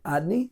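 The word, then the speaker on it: Adonai: Adni, we pronounce it, right?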